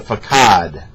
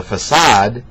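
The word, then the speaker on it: façade: you had multiple mispronunciations there is no such thing as a Fatah there is a facade so you want to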